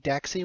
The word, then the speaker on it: Daxi: Also, it's pronounced Da Xi the great king of the West.